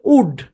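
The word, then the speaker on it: would: যেমন এটা হচ্ছে আপনার টক, টক মানে কি, টক মানে কথা বলা, মনে রাখতে হবে এলটা সাইলেন্ট। এখানে হচ্ছে উড, হ্যাঁ 911 কে আছেন, প্রত্যেকদিন আমি 911 এটা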